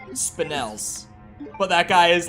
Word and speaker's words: spinel: re4 Remake blind run I call them spinals the whole way through but when I started doing the shorts I looked up how to pronounce them and now I know that you say it spinels but that guy is